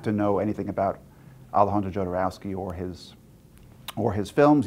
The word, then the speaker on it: Jodorowsky: know some people that could be a point of confusion as to how to pronounce his name and in fact we got to see him at South by Southwest and got to ask him himself oh and he says it doesn't matter he says you can see